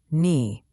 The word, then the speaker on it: knee: Knee, the K is silent.